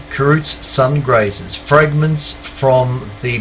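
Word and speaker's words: Kreutz: are carrots sun grazers k r e u t z kroots is that how you pronounce that cruz anyway they call them karoots sun grazers fragments from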